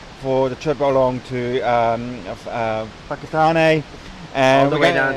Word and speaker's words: Whakatane: words like Whangarei and Whakatane, anything with a WH in the Maori language is pronounced as an F, like Whangarei is WH and Whakatane also WH.